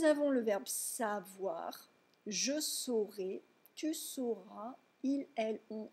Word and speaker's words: saura: Si vous ne prononcez pas correctement la distinction phonétique entre sauront et seront, ça pourrait poser des problèmes. Donc, O pour savoir, saurait, saura, saura, et E pour être, serait, sera, sera.